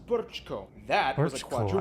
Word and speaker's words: Brčko: It's pronounced Brčko.